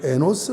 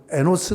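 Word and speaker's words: Enosh: 아들 낳았어요 그리고 이름을 에 노스 라고 지었어요 히브리 바로 만 스 바람이 아니야 쉬 발음입니다 n 5시에 noc 에너지 라는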